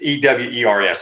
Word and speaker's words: Ewers: I can't pronounce his last name. It's Ewers.